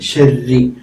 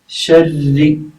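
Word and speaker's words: شرّ: ഇലാഹി മറ്റൊരു കാര്യമാണ് പിന്നെ ശരി എന്നത് ഇങ്ങനെ എഴുതുമ്പോൾ റാഇന് കസർ ആണല്ലോ വരുന്നത് ഷെറി അപ്പൊ ഷെറി എന്ന് വായിക്കരുത് ഷെറി രി ആയിട്ട് വരണം ശരി ഇങ്ങനെയാണ് അതിന്റെ ഉച്ചാരണം വേണ്ടത് റാഇന് കസർ വരുമ്പോൾ റാഇനെ കുറച്ചൊന്ന് പിന്നെ സോഫ്റ്റ് ആയിട്ട് കുറച്ച് കനം കുറച്ച് ഉച്ചരിക്കാൻ ശ്രദ്ധിക്കണം എന്നാ വായിക്കുക അതുപോലെ സാധാരണ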